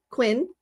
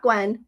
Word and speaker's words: Quinn: Quinn, not Gwen. Quinn. See, I said it right.